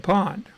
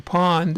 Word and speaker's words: pwned: an email that says I've been pawned so again Pond is spelled P P W in E D I always want to put an A in there P W and E D so that's a again